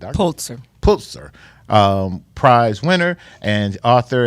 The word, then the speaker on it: Pulitzer: A puls you pronounce that Dr. Pulzer. Pulitzer um prize winner and author and she had